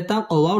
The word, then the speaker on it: تقويم: টেনে পড়তে হবে আহসানি তাক কফ কলকলার হরফ ধাক্কা দিয়ে পড়তে হবে তাক ওয়াও ঠোঁট গোল করে উচ্চারণ করতে হবে তাকওয়ি জেরের বাম পাশে জাজম